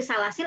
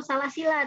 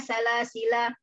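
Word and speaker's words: سلاسلا: Nah, Ibu boleh ambil salasil atau salasila tadi. Gitu. Nggak boleh Inna hadainahu sabila imma syakiran wa imma kafuran inna a'tadna lil kafirina salasila. Salah kalau seperti itu.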